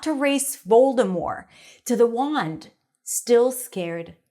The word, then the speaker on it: Voldemort: Now, I know that in the movie they say Voldemort with a T, but apparently the author J.K. Rowling has confirmed that the T is not pronounced.